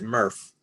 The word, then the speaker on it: MRF: material recovery facilities and i'll pronounce it murph so if you hear